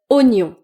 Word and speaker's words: oignon: Par exemple ce mot, vous pouvez lire ou oignon, mais c'est en fait oignon.